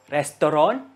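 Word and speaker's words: restoran: That one, in Malaysia, we pronounce two ways also. Lestoron or Lestoron. It's R-E-S-T-O-R-A-N, Restoron, or Lestalon, L-E-S-T-O-L-A-N.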